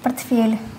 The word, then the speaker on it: портфель: Портфель. Ударение на букву Е.